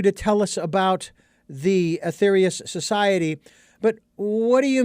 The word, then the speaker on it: Aetherius: was so intrigued by the Athetherious if I'm pronouncing that correctly the Athetherious society.